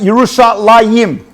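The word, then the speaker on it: ירושלים: than the mem however it's always pronounced we usually pronounce it yerushalayim so interesting and if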